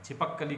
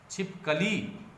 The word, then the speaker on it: छिपकली: कहा जा रहा है, छिपक कली के बारे में कहा जा रहा है, लेकिन ये उच्चारण तो ठीक नहीं है ना। छिपकली, ध्यान कहाँ है? लौ दीर्घिकार पर, उस पर हमें विशेष जोर देना है।